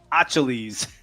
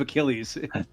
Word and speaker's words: Achilles: the words were revealed he just said aches instead of Achilles and they didn't give him the money he just pronounced it wrong that's crazy dude you